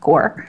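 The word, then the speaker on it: FoodCorps: He's so cool because he's doing Food Corp. Okay. Which is pronounced core.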